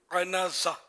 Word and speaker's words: عنازہ: انزا، عنازہ، تلفظ اس کا ہے عنازہ. عنازہ اس کا معنی ہے پھل لگا عصا، یعنی ایسا عصا یا چھڑی جس پہ پھل لگا ہوا ہو.